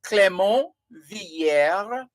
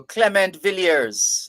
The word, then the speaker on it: Clément Villiers: If you're going with a French pronunciation, it would be Clément, Clement, pronounced Clément, and Villieres, Villiers. That would be French. It could be Spanish as well. No, if it were Spanish, it would be Villeres, but it's French, so it would be Villiers.